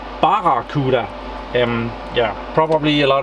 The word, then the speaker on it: Barracuda: I messed up the I tend to call them baku des and they are called Baba khuda mm yeah probably a